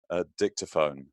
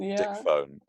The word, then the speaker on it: dictaphone: money for my vintage dictaphone not dick phone Di pH three syllables tick to phone got it sorry that's